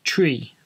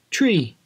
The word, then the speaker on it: three: green red it's incorrect so it should be pronounced tree let's try that again tree there we are got